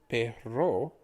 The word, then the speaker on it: perro: that are before you so the difference between p-e-r-o the word we just learned being pero for but but this one being perro for dog is just simply the added r sound let's try pronouncing this